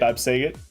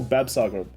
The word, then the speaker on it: Bavsargra: Bavsargra. Okay. Bavsargra. Yeah. No, but she's apparently everyone's new favorite girl. Really? Or is it the I don't know. Actually, is it Mirai that's the popular one, or Bavsargra?